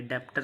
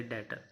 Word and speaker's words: debtor: B silent होता है यहाँ पे, डेप्टर नहीं बोलते, डेटर।